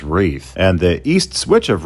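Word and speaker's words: Reith: A correction I must make is the pronunciation for what I called Ryth, which is actually said as Wreath.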